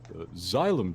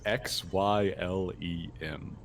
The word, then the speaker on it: xylem: xylem tissue is for distributing water and dissolved minerals